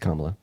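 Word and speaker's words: Kamala: be significantly worse right and her name is pronounced kamla okay I apologize for that um yeah I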